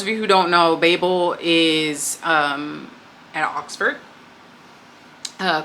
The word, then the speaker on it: Babel: And I realize a lot of people have been pronouncing this incorrectly. The author herself calls it Babel. It's not Babel. It's Babel.